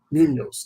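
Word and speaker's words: Muñoz: And it's the same team that had a guy like a Hall of Famer like an Anthony Munoz, however you say his name. Munoz, thank you.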